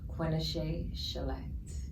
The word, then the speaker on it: Quinashai Chelette: for those at all my name is pronounced quenesha shellette quinnishay god you got